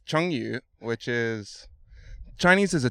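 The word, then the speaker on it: 成语: Now, the first thing is, Isaiah, is we should probably get you to pronounce firstly the word chengyu, which I butchered. Yes. So, it's chengyu, which is...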